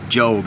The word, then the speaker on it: Job: J-O-B, called Job. It's spelled Job, but it's pronounced Job.